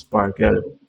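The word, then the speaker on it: SPARQL: It is an acronyame for sparkl protocol and RDF query language pronounced sparkle.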